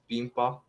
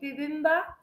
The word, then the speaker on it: bibimbap: I think, yeah, you might like it because, you know, lots of people from other countries, they all love bibimbap.